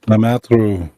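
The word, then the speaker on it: Lemaître: So Lemaitre.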